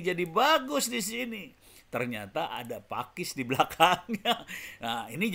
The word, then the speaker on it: Paques: di channel nya Pak Pakis Pakis yang tertulis paques maklum + 62 jadi rada-rada parah nih kalau buat saya juga baru tahu Pakis dibacanya pake Pak wes dibacanya Pakis Jangan sampai salah ya teman-teman Dan ini ternyata di